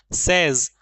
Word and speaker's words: says: सेज, अगर इस सेज, इसका प्रोनाउंसिएशन सेज होता है, सेज जैसे सैड होता है वैसे ये सेज होता है, ठीक है ना। बहुत सारे लोग इसको से बोलते हैं, से या फिर सेज, सेज नहीं है, ये सेज है।